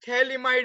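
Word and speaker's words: phthalimide: Okay, ये थैल इमाइड है, खाली पी साइलेंट है यहाँ पे, पी साइलेंट, इसको थैल इमाइड बुलाते हैं.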